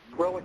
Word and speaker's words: RelliK: thanks man um well Relic Relic you know that's the say my name three times it's then it's Relic r e l i